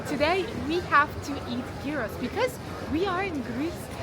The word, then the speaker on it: gyros: The right pronunciation, actually, I think it's gyros, something like that.